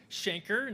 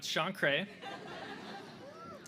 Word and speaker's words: chancre: For the record, let's get some pronunciations correct. So first, it's Shanker, not Shankray.